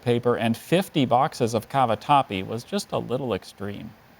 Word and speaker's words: cavatappi: rolls of toilet paper and 50 boxes of cavatappi was just a little extreme cavatappi are there any alternate pronunciations I see just the one cavatappi cavatappi